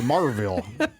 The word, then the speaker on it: Maryville: Marville. Yeah. I think the locals say Marville.